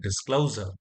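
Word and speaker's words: disclosure: அதாவது டிஸ்களோஸா அந்த கிளவ் அப்படிங்கிற சவுண்டுலதான் ஆக்சன்ட் விழுறதுனால டிஸ்கிளோசர் அப்படிதான் சொல்லணும். இதுல பிரீஃப்ங்கிறதுல ஆக்சன்ட் இல்ல.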